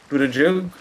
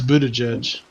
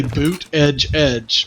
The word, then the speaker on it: Buttigieg: I thought it was Buddha Buttigieg. Judge. No, it's Buttigieg. Buttigieg. I know either way. because he gave a pronunciation where he said you just say boot edge edge, but you know Buttigieg.